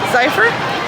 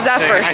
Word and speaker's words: Zephyr: I always say it wrong. The Golden Zephr. Zephr. Zephyr. See, I I keep saying it wrong.